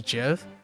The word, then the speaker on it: GIF: The creator of GIF actually said it's pronounced Yeah. GIF. Yep. Precisely in reference to the peanut butter brand.